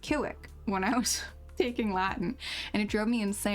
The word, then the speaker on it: Civic: Because C's are always pronounced as K's, like a hard C, and V's are pronounced as W's. So Honda Civics were my nemesis at the time. I was so confused cuz they were pronounced Kiwik when I was taking